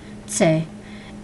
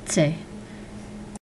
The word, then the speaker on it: TS: I totally forgot one of the letters was the TS, which is pronounced tse, and that's just straightforward TS, tse.